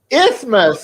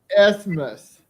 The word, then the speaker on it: isthmus: How do you pronounce that? Isthmus. Is it IS? ISTHMIS. Isthmus. Well, MUS. Isthmus.